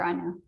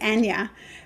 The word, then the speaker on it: Anja: And my mum will be so pleased how you say my name because because you're saying it the right way. The British way for me is Anja, but my mum is from Switzerland, and the Swiss say exactly how you do.